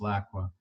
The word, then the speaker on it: LCWA: refer to it as Lac WA or Locke what depending on how they want to pronounce the a we are not a